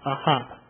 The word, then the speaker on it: AHP: oom hotm and P ahp pronounced aha the Restriction of zimzum